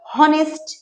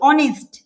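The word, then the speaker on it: honest: অনেস্ট কিন্তু উচ্চারণ কি হওয়া দরকার এই দেখ উচ্চারণ হওয়া দরকার হনেস্ট তাইতো কিন্তু অনেস্ট উচ্চারণ হচ্ছে অনেস্ট উচ্চারণ হচ্ছে না উচ্চারণ হচ্ছে কি অনেস্ট অনেস্ট আমি বল কিসের প্রাধান্য এই পর উচ্চারণটা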